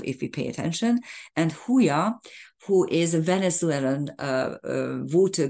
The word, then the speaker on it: Huya: It should be pronounced as Huya, of course, because any J at the beginning of a Spanish word is pronounced with an H.